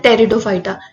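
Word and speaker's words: Pteridophyta: Cryptogams में आते हैं आपके थैलोफाइटा, ब्रायोफाइटा एंड टेरिडोफाइटा। ये पी जो है यहाँ पे साइलेंट है, तो ये क्या है, टेरिडोफाइटा, ठीक है।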